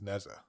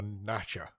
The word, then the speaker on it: Nezha: And then he says this is Nezha or Nasha, I think they call it. That's how they describe it, how they pronounce it over there.